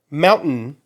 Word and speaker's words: mountain: If you notice, where my tongue is not a eh. Okay, it is at the roof of my mouth, just like mountain. Okay. The difference is that I'm not pronouncing the T with a strike. Okay. All right. What I'm doing is a glottal stop for that T.